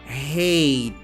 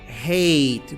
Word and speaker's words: hate: que seja uma vogal, é uma letra que não sai na pronúncia.